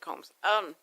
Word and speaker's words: Coombs: Coombs, but they pronounce it Combs.